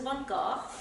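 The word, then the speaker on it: van Gogh: sunglasses here's our first vincent van gaal i'm pronouncing this the dutch way it's called cafe terrace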